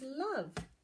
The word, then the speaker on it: love: learn this week is love. Love. So love is actually spelled L-O-V-E. So it looks a bit like love. It's got a silent E and the O sounds like a.